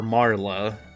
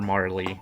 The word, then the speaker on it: Marle: So, I think in Marl, yeah, I think in traditional Japanese, in like when you translate the original text or whatnot, it's pronounced Marl, but I don't care.